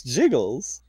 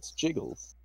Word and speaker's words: Giggles: It would be spelled by like Giggles, but it's Jiggles.